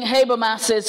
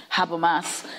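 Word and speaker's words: Habermas: the person inhabits using haber masses concept of emancipatory learning and it is haber mass because he's American and not have a mass as the other pronunciations he is hey bro mass Haber mass using his concept of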